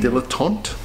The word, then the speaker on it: Dilettante: But do you have anything else to add on Dilettante? Is that how you pronounce it? Dilettante?